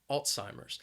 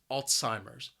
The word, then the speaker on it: Alzheimer's: memory loss Alzheimer's now the word has three syllables and the stress is on that first syllable and I think that first syllable is what makes this word a little challenging alts it sounds like alts Alzheimer's Alzheimer's what do